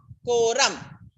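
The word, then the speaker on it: quorum: confusion for you people ko ko so q-u-o ram from spelling cannot forget no ram koram that is the way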